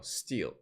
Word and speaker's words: stele: over anything else okay how to pronounce stele steel oh it is pronounced no steel sounds like steel oh it is that's